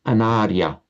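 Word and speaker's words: anārya: You pronounce that a bit short. It's Anaria.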